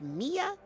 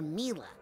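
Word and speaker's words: Milla: any dialogue mia yes darling is it pronounced mia or mila well it's short for camila you know but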